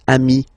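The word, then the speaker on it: amis: it's the singular remember if you want to put the plural form then you just add this final s here okay but then technically you pronounce it the same way so singular form Ami plural form you add this s but it's Ami as well okay in that case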